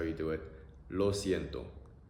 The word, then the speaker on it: lo siento: Lo siento. Lo siento.